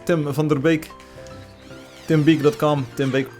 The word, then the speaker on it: Tim van der Beek: tim van der beek if you pronounce his name and Dutch it's Tim thunder Baek Tim be calm Tim